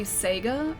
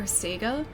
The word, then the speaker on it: Sega: like whether it's supposed to be Sega or Sega. And I think the way that I see it is that it depends on like where you're from as to how you should pronounce it, because I think it's a regional thing.